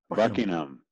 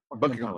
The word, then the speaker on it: Buckingham: Buckingham. Yeah. Buckingham.